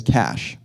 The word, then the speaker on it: cache: you're going to do is you're going to cash it but not that kind of cash unfortunately you're going to cach it with a CH some people pronounce that as Cas that is wrong it is cache um so let's talk about caching what is